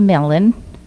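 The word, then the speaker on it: Milne: is enough children's author AA melan which I used to pronounce mil I thought that was how it was pronounced expressed it so well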